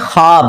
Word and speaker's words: خواب: नहीं आ सकता अच्छा ये लफ्ज लिखने में है ख्वाब खवा वाव अलिफ बा लेकिन पढ़ने में यह ख्वाब है वाओ साइलेंट हो जाता है ख्वाब पढ़ा जाता है ये लफ्ज उर्दू में